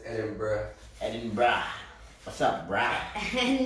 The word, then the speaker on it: Edinburgh: We had Jacob sent us a enunciation, like how to pronounce everything. Yeah. Last weekend, and it's Edinburgh.